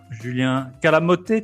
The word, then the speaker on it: Calamote: Et aujourd'hui, on est avec Calamoté, tu l'appelles, ou Calamote, comment tu prononces? Non, Calamote, ça ira. Calamoté, c'est encore plus au sud.